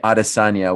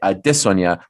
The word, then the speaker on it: Adesanya: to stick with aresania now i have to reprogram my brain to say arasanya when i've already programmed my brain to say adesonya which i like better so i might stumble upon it a couple times but yes if you say arasanya according to izzy that is okay he is comfortable with that and has sort of